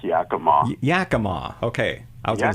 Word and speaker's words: Yakima: It's Yakima.